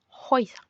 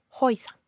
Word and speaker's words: Häuser: La A umlaut con la U también se pronuncia como hoy. Así que casas se dice Häuser. Häuser.